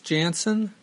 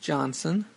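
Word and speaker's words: Janson: and inks by Claus Janssen though recently I heard his name is actually pronounced Johnson I'm not sure about that anyway uh I read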